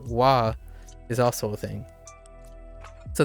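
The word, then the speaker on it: は: The hiragana is only pronounced wa as a topic marker. Otherwise, it's pronounced ha.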